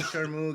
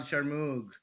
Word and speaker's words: Sharmoug: It's a hard G at the end, all right? Don't you dare put a T at the end of there.